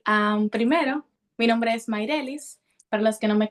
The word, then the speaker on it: Mairelis: veces mato los nombres cómo se cómo se pronuncia bien maelis maelis lo tengo maelis maelis este mencionaste que